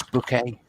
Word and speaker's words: Bouquet: This is Miss Bouquet. It's spelled bucket, but she stabbed the last person who called her that.